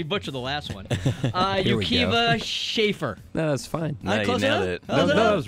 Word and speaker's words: Akiva Schaffer: amazing pronunciation dang it I'm going to totally butcher the last one uh Yuka schaer no that's fine that was right how are